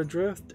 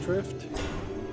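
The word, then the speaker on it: Aether Drift: Next game we have on Steam is called Ether Adrift, A-E-T-H-E-R, Drift. Not A-Drift, just Drift. I said it wrong.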